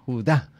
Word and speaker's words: Judá: Judá, este sí tiene acento en la Judá.